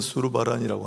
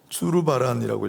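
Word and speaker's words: Zurbarán: 이 희생양, 하나님의 어린 양이라는 그림인데, 예전에 한번 소개했는데 1635년에 스페인 출신 프란치스코 드 수르바란, 우리는 수르바란이라고 하는데 주르바란이라고 읽어야 정확하겠지만, 이런 화가가 그린 하나님의 어린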